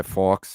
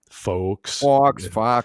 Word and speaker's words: Fawkes: Guy Fawkes, yeah. Fox. Isn't it like FAUX?